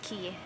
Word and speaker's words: Cay: ways but it is key it is pronounced key disney pronounces a key